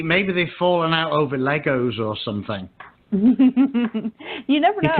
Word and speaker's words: Lego: ass you don't think you don't add the s it's just Lego did you know that I was corrected once by a little crispy hot oh yeah Oh over here Americans say Legos cuz I was as